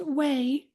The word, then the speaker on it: WAI: So according to the website accessibility initiative or WAI pronounced way its goal is to provide standards for web content accessibility meeting the needs of individuals organizations and governments internationally.